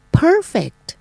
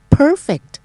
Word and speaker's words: Perfect: ไป ค่ะ คำ ว่า Perfect Perfect ก็ เน้น ที่ พยาง หน้า นะ คะ perspective perspective ก็